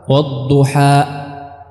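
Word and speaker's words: والضحى: Kita menghabiskannya bukan dengan menutup pita suara. Wadduha, tidak, bukan ditahan tapi dihabiskan. Wadduha, ya, wadduha, ya, bukan wadduha.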